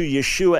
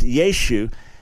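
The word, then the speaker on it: ישו: And that at a certain point, the final ah was kind of lost in Yeshu. And so you lost that final ayin and you ended up just with Yeshu.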